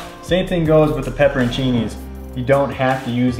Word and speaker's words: pepperoncini: literally had to look up online how to pronounce this i always called it pepper chinese but it's pepperoncini or as they were saying in all the italian videos i was watching pepperontini so getting everything into the crock pot first